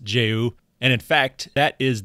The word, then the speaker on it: JAYU: And I have since learned that it is pronounced Jayou.